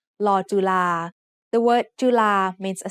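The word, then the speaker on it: ฬ จุฬา: As an initial consonant, Law Jula makes the sound of the letter L just like Law Ling, and it would make the sound of the letter N as a final consonant.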